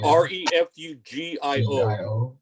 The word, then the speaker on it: Refugio: So then- it's REFUGIO. Just Yeah. like Okay. Refugio. Refugio. Okay, I see. But the G is But- pronounced like an F.